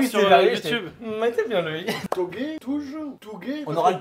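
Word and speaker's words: touge: Togué, je vais pas vous mytho, j'ai appris la réelle prononciation sur la vidéo qui est sortie du HEM, est sortie la semaine dernière.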